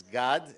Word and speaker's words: Gad: So let me say how you're supposed to properly pronounce it, notwithstanding the very nice effort. It's GAD, it's a Hebrew name, and SAAD, it's a guttural ayin.